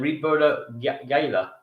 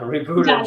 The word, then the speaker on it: Ribolla Gialla: How do you say it? Ribolla Gala, Gala, Gialla. Gialla, Ribolla Gialla.